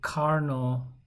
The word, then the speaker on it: Carnot: Okay, so efficiency of an ideal, also called Carnot. T is silent here.